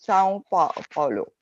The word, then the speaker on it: São Paulo: And in Portuguese, the same tilde is adding a nasal sound. So it becomes São Paulo.